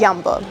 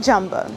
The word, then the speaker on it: Jumbo: albertine and Yambo yes you pronounce it as Yambo not jumbo there is also little